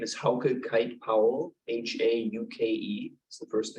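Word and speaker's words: Hauke Kite-Powell: truth of God please state your name and spell it for the record my name is how could kite Powell h-a-u-k-e is the first name k-i-t-e hyphen p-o-w-e-o-l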